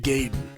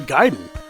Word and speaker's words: Gaiden: America at that time called the game Ninja gayen not because it was funny to call things gay and nothing stupid like that it's just that we didn't know how to pronounce the word giden and I'll take an